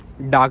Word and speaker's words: DAK: तो मेरा जो हेल्थ इंश्योरेंस है वो है डाक भी कहते हैं उसे, जो उसकी स्पेलिंग है वो है DAK।